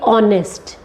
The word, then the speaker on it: honest: See, I want to give here few examples of English, like we have silent letters in few words, like let's take honest, H is silent.